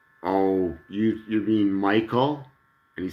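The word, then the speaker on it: Michele: funny i go by michael and yet my name my first name is spelled m-i-c-h-e-l-e which you would pronounce michelle but it's an italian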